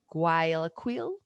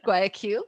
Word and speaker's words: Guayaquil: Um, Guayaquil, Ecuador. Does that sound Guayaquil. okay? Thank you. Guayaquil, Ecuador.